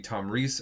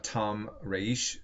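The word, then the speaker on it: Tomyris: and a queen um she has different uh ways of her names can be pronounced it's uh uh it could be Tom Reese or in um Persian uh Tom raish um of the massetti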